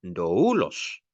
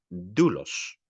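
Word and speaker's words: δοῦλος: En este caso no decimos doulos, sino decimos dulos, como si mejor dicho, sobre el diptongo recae el acento, pero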